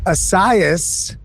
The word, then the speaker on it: Essiyas: I am here with Asaias. Is Am I pronouncing that properly?